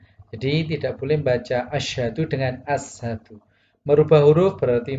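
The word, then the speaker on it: أشهد: Contohnya pada kata asyhadu dibaca ashadu. Ini salah. Jadi tidak boleh membaca asyhadu dengan ashadu.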